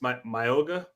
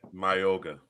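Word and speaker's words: Mauigoa: is Francis Mayogga. I said it right. Okay. My yoga. My yoga. We gonna work on it. We're gonna work on it. I say yoga. Francis. Mayoga. Is that right? More or less. Yeah.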